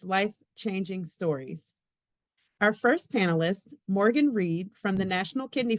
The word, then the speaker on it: Morgan: say my name is Morgan rhymes with Oregon Oregan Morgan you can't